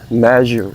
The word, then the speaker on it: measure: So if I would measure this, all right, measure with a Z sound, measure, okay?